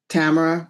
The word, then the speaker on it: Tamara: So um my name rhymes with camera since you mentioned Codak. So Tamara camera Victor Victor Victor.